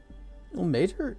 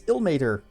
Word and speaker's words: Ilmater: Ilmater. Now we know. Now we finally know how it's pronounced. Huzzah. It's Ilmater, the god of martyrs and suffering.